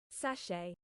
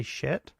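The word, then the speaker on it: sachet: Um Sache. Oh, it's sache. What? It's spelled s a c h e t. You would wouldn't you say Sashet. Sache. Okay. Sache.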